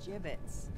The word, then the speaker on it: gibbets: Gibbets? What? It's pronounced gibbets.